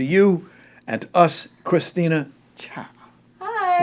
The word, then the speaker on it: Cha: Please introduce to you and to us, Christina Cha. Hi. Like cha-cha-cha. It is like cha-cha-cha. I'm so glad you know how to pronounce my last name.